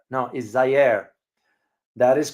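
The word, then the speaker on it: Zaire: got got it Zer a lot of people pronounce it as Z no is Zer that is correct and of course you all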